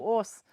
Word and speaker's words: Ås: Ordal or in Ås, a double A is like the same as with A with a circle over, and it's pronounced O, like the Minnesota O. So Ås.